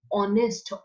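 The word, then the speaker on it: honest: नेक्स्ट देखिए, हाउ डू we pronounce this वन, ऑनेस्ट, ओ, एच क्या है, silent, pronounce कैसे करते हैं हम इसको, ऑनेस्ट। कौन सी साउंड मिल रही है, ओ, ऑनेस्ट, ठीक है।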